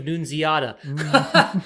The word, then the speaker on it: Nunziata: Amazing pronunciation of Nunziata.